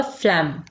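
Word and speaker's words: phlegm: कहा जाता है फलम यहां पर जी जो है यह साइलेंट होगा क्या होगा फलम नेक्स्ट है पीप इसको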